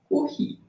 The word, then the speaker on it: Curie: É, na verdade, se escreve Curie, né? Curie. Mas, como é em francês, se pronuncia Curie.